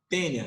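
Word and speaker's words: Taenia: Tênia, se escreve taênia, mas a gente lê no latim, né? Sabe? A seguido por E, você lê só o E.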